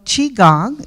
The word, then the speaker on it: Qigong: Okay, so Qigong is how you say this. Qi, it's pronounced Qi.